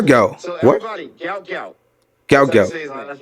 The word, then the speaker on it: Gout Gout: record so everybody knows gout gout is the correct way yeah yeah all right gout so everybody gout gout gout gout that's right